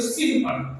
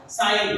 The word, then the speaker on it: sin: अगर इसको प्रोनाउंसिएशन किया जाए तो इसको अगर आप पढ़ेंगे तो सिन पढ़ेंगे इंग्लिश के हिसाब से, लेकिन इसका प्रोनाउंस चूंकि ये शॉर्ट फॉर्म लिखा हुआ है साइन का, SINE साइन, इसका पूरा नाम साइन होता है, लेकिन यहाँ पे शॉर्ट